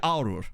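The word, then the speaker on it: Għargħur: So it's basically Aurur, right? Or Aurur. Because doesn't the GH thing kind of... Gargur, is it? But isn't the GH thing like a silent letter itself?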